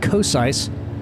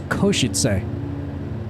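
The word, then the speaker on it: Košice: in here is called it looks like kis that's not how you say it I had to check it out it's kosit so you emphasize that first syllable and yeah you're probably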